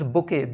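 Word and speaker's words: bouquet: Next BOQU, spelling my dear learners ये correct नहीं है, BOQUET है, BOQUET. This is बुके, BOQUET.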